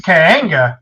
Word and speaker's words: Kaanga: now this one I do pronounce Kaanga because it has the emphasis over the oompla there.